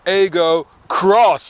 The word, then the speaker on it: Aygo X: i've got the toyota ego cross it's pronounced cross although they write it as an x now this is basically well